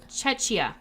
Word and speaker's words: Czechia: Czechia.